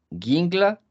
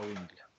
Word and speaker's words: Guingla: Guingla, ¿lo pronuncié bien, señor? Presente, no sería Wingla.